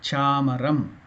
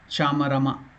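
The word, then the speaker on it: चामरम्: It is not chamarama, it is chamaram, half letter.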